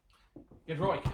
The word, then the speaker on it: Giedroyc: Giedroyc is how she pronounces it. Thank you. Says Steph. I Thank had you. the faintest idea. Giedroyc.